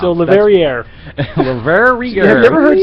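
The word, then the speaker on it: Le Verrier: Leverrier or Leverrier? Leverrier. Are you That's sure? how I'm saying it. Rhymes with derriere.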